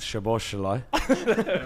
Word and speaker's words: Szoboszlai: Szoboszlai.